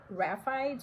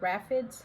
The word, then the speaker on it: raphides: So, uh, basically for monstera, monstera and a bunch of other plants have something called raphides or raphids, however you want to pronounce it.